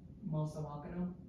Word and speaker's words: Mosawakana: Mosawakana. Like almost like you're saying mouse. But it's like, I don't know if it's the same, but it's similar.